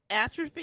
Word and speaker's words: atrophy: ATR at trophy at how you pronounce that atopy atrophy thank you atrophy I I'm scarred so